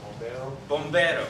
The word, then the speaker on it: bombero: Your R in Spanish is a little bit more towards the D. You roll it. Bombero, and that literally means firefighter.